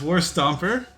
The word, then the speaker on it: Warstomper: my God oh my God nice thank you spell it's okay no big deal no deal okay so yeah it's War stomper for anyone wondering yeah I didn't just paint